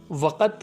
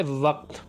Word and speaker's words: وقت: وقت ہم باہر ہیں۔ تو وقت کہنا غلط ہے، اس لفظ کا ٹھیک تلفظ ہے وقت۔ اچھا، اسی سے ملتے